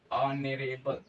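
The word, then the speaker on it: honourable: तो ऑनरेबल का जब हम प्रोनाउंसिएशन करते हैं तो क्या मिलता है हमें, ऑनरेबल। प्रोनाउंसिएशन के बाद हमें क्या मिला, आ मिला।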